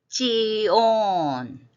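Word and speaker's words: ציון: 미츠라임 지온 지온 우리는 시온이라고 하는데 지 발음에 가깝습니다.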